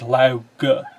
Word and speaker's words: Lao Ge: How do you actually say the alternate name? Is it Lao Ji or what? The way it is said every single time in this book is Lao Ge.